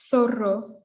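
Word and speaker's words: zorro: think then we have thoro which is similar to thought okay and that's our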